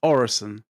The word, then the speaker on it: Orison: So with an S, it's Orison.